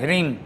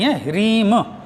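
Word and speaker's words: ह्रीं: उसका बीज मंत्र है हरिंग रिंग संगत नहीं है रीम क्योंकि टंक शब्द से ओम के उससे ये सब बने हुए हैं तो इसलिए रिम शब्द का उच्चारण करें एम और हरिम और क्लीम और तीसरा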